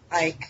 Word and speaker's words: Icke: Icke, yeah. I always get his name wrong.